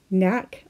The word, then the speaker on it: knack: Knack also sounds like na.